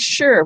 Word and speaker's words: sure: What are the sounds? Sh, In order to spell the sh, we use an S. Yep. We don't usually use an S, but in this word, we're using an S to spell the sh sound.